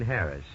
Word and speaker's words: Harris: I'm pretty sure he pronounced it just plain Harris. You know, like Harris Tweed.